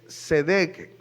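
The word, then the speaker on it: צדק: Pero es tzedek con una T al inicio.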